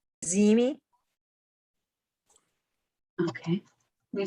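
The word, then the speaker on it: Ziehme: Zimi, Okay, can you spell that?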